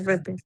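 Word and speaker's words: répété: এই চিহ্নটা থাকলে এ তে রূপান্তরিত হয়, তাই না? এই লেটারের উচ্চারণ। লে পে তে, লাস্ট এ, Repete. হ্যাঁ, এই যে এটা মাঝে আসার কারণে এটাও এ তে রূপান্তরিত হয়ে গেছে। তার এই জন্য তিনটা এ আছে।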